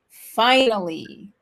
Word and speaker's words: finally: It's like only 3 syllables. So, and the stress is on the first one. Okay, là, je vais y arriver. L'accent tonique est sur la première syllabe.